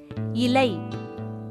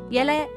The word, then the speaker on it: இலை: அடுத்து இலை, இது சரியான உச்சரிப்பு. அதுவே இலை அப்படின்னா அது தவறான உச்சரிப்பு.